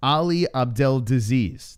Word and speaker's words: Ali Abdelaziz: I found out the real way to say Ali's name. It's Ali Abdelaziz. That's how you say his name. Yeah. That's not even how it's spelled. No, that's how you pronounce it.